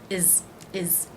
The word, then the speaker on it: his: in Chicago and here how will I pronounce his is is I will drop that age what was his name